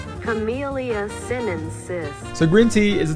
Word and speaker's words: Camellia sinensis: Let's see how this is pronounced. Camellia sinensis. Camellia sinensis.